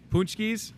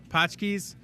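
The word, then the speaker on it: pączki: Something else you could have on Fat Tuesday, another tradition would be the punchkis. I think that's how you say it. Punchkis, pachkis. You say punchki, I say pachki.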